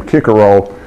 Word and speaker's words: Cicero: anyway the Roman lawyer Cicero who would have pronounced his name kicker roll was an almost exactly